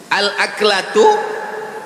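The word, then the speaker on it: الأكلة: Al-aklatu bifathil hamzah. Cara membacanya hamzahnya baris atas.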